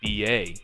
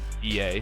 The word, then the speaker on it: B.E.A: from my sources that they would like to be pronounced B.A, even though that's not how they spelled it out. They want to be called B.A.